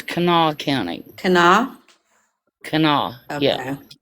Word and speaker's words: Kanawha: Yeah, and it's Kanawha County.